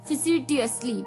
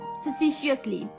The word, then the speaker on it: facetiously: तो चलिए दूसरा जो वर्ड था इस शाम का वो था facetiously, facetiously, facetiously, FACETIOUSLY, facetiously, FACETIOUSLY, facetiously, यानी कि दोस्तों इसका हिंदी मीनिंग मैंने बताया था, डिक्शनरी के हिसाब से है मस्खरापन से।